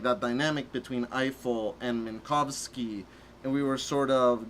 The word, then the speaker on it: Minkowski: And we sort of checked with someone we knew who was of Polish ancestry, and they sort of said it would be Minkowski, not Minkowski.